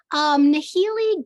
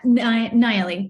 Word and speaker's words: Nayeli: Yeah, Nayeli, the H is silent.